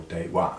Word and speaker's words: Deva: to the Romans as Deva or dewa as I suppose we should pronounce it what do we know